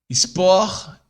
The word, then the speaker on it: sport: Os brasileiros têm a mania de colocar a letra E antes do S ao pronunciar as palavras. Mas no francês não tem a letra E. A gente deve começar como S. Por exemplo, aqui, ó. Sport, não é sport. Sport, stupide, spontané, espasme, são pronunciadas com S.